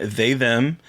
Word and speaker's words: They/Them: It's actually pronounced they/them. I got like 45 emails about it. It needs to be pronounced they/them for junket interviews. Yeah, like that's how you have to pronounce it in junket interviews.